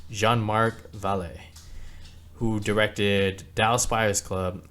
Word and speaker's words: Jean-Marc Vallée: film is directed by Jane Mark valet let me pronounce that again Jean Mark valet who directed Dallas spers